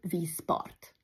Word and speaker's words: vízpart: történni valamelyik mindenképpen lejátszódik például vízpart azt írom le hogy vízpart de kiejtésben a z helyett ezt ejtek mert az az ő zöngétlen párja ha gondod van a